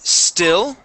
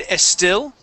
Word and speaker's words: still: Let's go to the word still. Here you had said estil. Sorry, estil. So we want to take off that E. Only focus on that S. All right, and use a short I sound. Still.